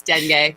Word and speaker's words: dengue: i just googled it it's dengue but okay google gives you the american pronunciation of a word as opposed to the other pronunciation okay all right um